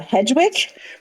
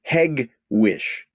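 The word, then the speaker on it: Hegewisch: i s c uh hedgewick very close very close it's a hard G hewish you're still doing outstandingly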